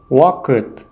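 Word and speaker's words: ұ: Буква У – уакыт – время. Уакыт – время. Буква У произносится более кратко и тверже, чем простая буква У.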